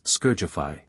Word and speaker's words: Scourgify: The household cleaning charm is scourgify. Circular wand motion. Emphasis on the second syllable.